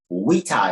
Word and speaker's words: vita: is also life where the v is pronounced like the w we ta is so to know